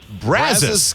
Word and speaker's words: Brazos: Brazos.